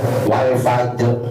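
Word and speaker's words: والفجر: Surat Alfajr itu wal fajr asalnya wal fajr karena jim di sini qalqalah maka kemudian bacanya menjadi wal fajr asalnya fajr wal fajr ada yang tetap dengan posisi seperti itu. Maka rnya kadang-kadang suka enggak kedengaran.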